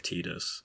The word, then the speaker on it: Tidus: should be verbalized and so he ran with tida's and that subsequently echoed out to the teams